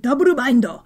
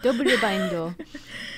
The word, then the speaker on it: Double Bind: In Japanese, they pronounce it Double Bindo. Double Bindo.